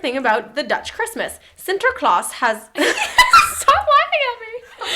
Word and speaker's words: Sinterklaas: In the Netherlands, Sinterklaas... Ooh, Why'd you say it like that? Because it's Dutch. The Dutch version of Santa Claus. Sinterklaas.